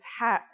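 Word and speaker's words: ح: no counterpart in English it sounds like the sound you make when trying to cool your mouth and throat after eating something very spicy the closest English counterpart to the sound is H the only difference is that it comes from a point deeper down in your throat just like this try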